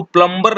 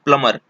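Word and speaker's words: plumber: देखिए, एक अगला शब्द है ये, इसको प्लम्बर नहीं पढ़ा जाता है, प्लम्बर नहीं पढ़ा जाता है। यहाँ पे बी जो है साइलेंट है, इसको बोला जाता है प्लमर। हम लोग लगभग बहुत सारे लोग हैं ऐसे जो इसको गलत प्रोनाउंसिएशन इसका करते हैं। इसका जो सही प्रोनाउंसिएशन है वो है प्लमर।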